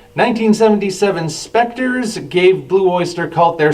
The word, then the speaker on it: Spectres: on coming mispronounced as Spectras by some radio DJs of the time 1977 spectres gave Blue Oyster Cult